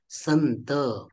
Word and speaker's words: संत: करायचं आहे उदाहरण उदाहरणार्थ संत शब्दांमध्ये अनुस्वाराच्या पुढे त हे व्यंजन आलेला आहे आणि त व्यंजनाच्या वर्गातील अनुनासिक व्यंजन हे न आहे न म्हणून संत शब्दांमध्ये जो अनुस्वार आहे त्या अनुस्वाराचा उच्चारण न प्रमाणे होतं संत त्याचप्रमाणे संपदा शब्द